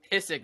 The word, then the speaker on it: Pysyk: So the new Pysyk is how we say it.